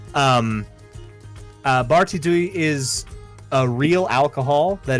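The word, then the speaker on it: Barti Ddu: Funnily enough, Barty Doo or Barty Thu, because it is I believe it is DDU is how it is spelled, which is DH. The Welsh so T. the Welsh T. Barty Thu is a real alcohol that exists.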